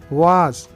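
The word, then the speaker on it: vase: मैंने ये वास तोड़ दिया है, आई हैव ब्रोकन दिस वास, आई हैव ब्रोकन दिस वास। वास ये ब्रिटिश प्रोनाउंसिएशन है।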